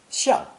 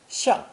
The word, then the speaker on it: 象: This character is pronounced fourth tone, 像, 像.